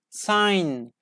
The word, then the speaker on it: sign: continue with silent G the letter G is not pronounced is not pronounced when it is followed by n at the end of a syllable for example foreign foreign like foreign teacher yes I am a foreign teacher with this we don't pronounce like ah say J like foreign foreign sign sign designed a